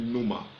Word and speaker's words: pneuma: Ça se prononce en principe pneuma.